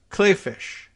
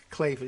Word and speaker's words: Kleefisch: former Lieutenant Governor Rebecca Kleefisch. I think that's the way people are pronouncing it, more like Clayfish.